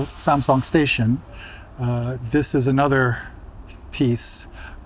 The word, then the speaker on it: Samsung: and the TVs, Samsung, that we all pronounce as Samsung, right? But it's Samsung in Korean, right? Samsung. Well, we always pronounce it as Samsung, and that includes me.